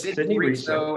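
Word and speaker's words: Sidney Reso: But today we're going to talk about Sidney Riso. Is that how you say his name? Yes, Sidney Riso.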